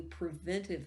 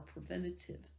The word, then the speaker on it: preventive: left definite mark on particularly preventive medicine or preventative medicine. Both ways are correct to pronounce that one.